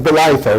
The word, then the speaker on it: Bolitho: Many of you will know, I think, that the case of Bolitho, that's how it's pronounced, a colleague of mine was in the case, B-O-L-I-T-H-O.